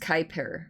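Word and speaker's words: Kuiper: Pronounced Kyper.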